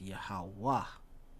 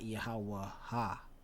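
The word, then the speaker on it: יהוה: But how we pronounce this is Yahweh. Okay? Not Yahweh Ha. Okay? It's Yahweh.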